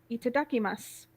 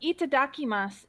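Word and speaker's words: いただきます: see if I but itadakimasu is spelled similar to what it sounds like but basically if you've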